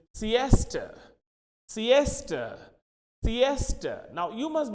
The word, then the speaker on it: siesta: we use in standard similarly where a word s-e-i-s-t-a this is Siesta Siesta Siesta now you